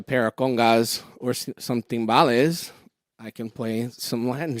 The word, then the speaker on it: timbales: You're pronouncing them as timbales. Is that what gives the credibility? Because you can roll your R's.